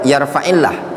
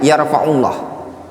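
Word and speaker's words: يرفع الله: Yang sebenarnya yarfaillah tapi dibaca yarfaullah atau yarf yarfaallah misalkan atau fil ada memang cara pelafazannya salah.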